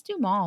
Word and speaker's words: Duhamel: And then I looked it up and it's Duhamel.